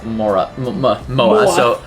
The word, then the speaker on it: MOA: Saan sa MOA. So that means That's actually how we pronounce MOA.